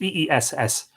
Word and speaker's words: Ys: Is, pronounced E-E-S-S, also spelled Ker-Is in